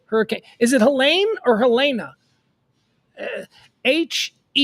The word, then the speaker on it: Helene: Is it Helene or Helena? Helene. I would pronounce that Helene. But watch them say, no, that's Helena. We're gonna call it Helena. It's Helena. It's Helena, right?